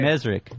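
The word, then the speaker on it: Mezrich: Mesrick.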